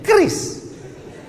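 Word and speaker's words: QRIS: Q ris cara bacanya gimana sebetulnya? Kris.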